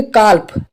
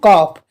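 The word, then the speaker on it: calf: एफ कॉफ ठीक है तो यहां पर अगर आप न्यू स्टूडेंट हो तो आप इस तरीके से पढ़ोगे कल्प कल्प इस तरीके से पढ़ोगे लेकिन यहां पर एल साइलेंट है इसके लिए पढ़ेंगे हम कॉफ ठीक है ऐसे बहुत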